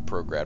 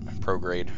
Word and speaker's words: prograde: tell this to go prograd while we figure everything out prograde rather sorry I mispronounce it because I read that so often that uh it drops the E okay so that doesn't